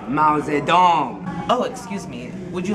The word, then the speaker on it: Mao Zedong: Mao Zedong? It's pronounced Mao Zedong.